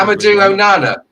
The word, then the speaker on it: Amadou Onana: Amadou Onana.